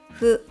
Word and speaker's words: ふ: Note that fu is often spelled out as the letters F and U in Romaji, but the pronunciation is different from the English F. Pretend you are blowing out candles.